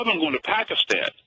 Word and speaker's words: Pakistan: Pakistan. China. Pakistan. That's actually the correct way to pronounce it, especially if you work for NPR.